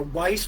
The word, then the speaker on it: Weiss: With the can, the Weiss or Weiss, or pronounced like was, is a German and Jewish surname, meaning white in both German and Yiddish.